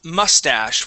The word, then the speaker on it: mustache: like tissue yeah um this word is mustache with the uh the accent at the beginning mustache okay um now with